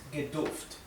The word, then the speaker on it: gedurft: Esa R final se pronuncia, es poco perceptible.